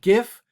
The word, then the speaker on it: GIF: So this is an animated GIF or GIF, depending on how you pronounce it, that shows what that supernova is doing.